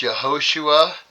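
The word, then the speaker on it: Yehoshua: And right, if you pronounce it correctly, it's Yahosua, which is the same as our Messiah.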